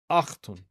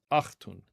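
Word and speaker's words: ܐܚܬܘܢ: And now this time the final nun is pronounced, achtun, achtun, and that means you plural.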